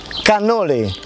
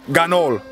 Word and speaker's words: cannoli: Cannoli. Cannoli, not ganol. Cannoli. Cannoli. Cannoli. I've heard ganol. Ah. Cannoli. Ganoli? No, con la C. Cannoli.